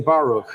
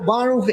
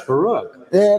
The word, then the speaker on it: Baruch: one do you prefer so barov is the name but I stopped very long ago trying to correct people to pronounce my name because in Hebrew it's Baroque so there are two